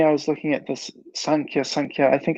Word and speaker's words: Sankhya: So unless there's some hidden meaning behind this, I'll just assume that it's supposed to be Sankhya with a long A in all cases.